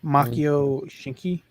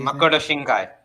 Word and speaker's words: Makoto Shinkai: Yes, Yeah, it's just made by the same guy who made the one he talked about, Makio Shinki. They say Makoto Shinkai. There we go. Oh, Yeah, pronunciation on point.